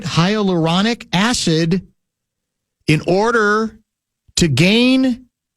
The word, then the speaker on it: hyaluronic: Um, apparently, uh, Winter Olympic officials are investigating the possibility that ski jumpers are injecting their penises with hyuronic, am I pronouncing that right? hyaluronic acid in order to gain extra flight, so to speak.